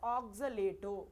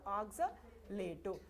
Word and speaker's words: oxalato: Oxalato. What is the name of this ligand? Oxalic acid is giving now. So oxalate. But while you are pronouncing in the metal complex, you should say oxalato.